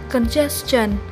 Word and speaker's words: congestion: Trong phần số 2 vừa rồi thì mình đọc từ này chưa chính xác lắm. Mình xin đọc lại từ này là congestion. Và đó mới là cách đọc chính xác của từ này nhé.